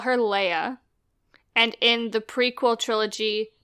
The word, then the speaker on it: Leia: layers Lea everyone calls it layer it's it's Lea it's clearly Lea are in the in the movie no they only mentioned it once they call her leia and in the prequel trilogy Padme pronounces her